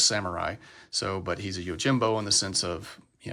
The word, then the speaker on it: Yojimbo: do believe that usagi Yojimbo or yagi Yojimbo is uh Japanese for rabbit bodyguard uh I think it's actually pronounced yinbo I think there's more of an n Sound instead of an M maybe that was a